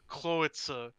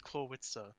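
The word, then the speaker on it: Clawitzer: Because it's supposed to be, like, Howitzer, and, like, the W is supposed to be, like, the biggest, like, emphasis in the entire word. And you're like, Klawitzer. It's like, what? Huh? Like, no, it's Klawitzer.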